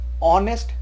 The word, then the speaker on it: honest: An honest politician, we don't call honest, we call honest. H is silent, so an honest politician.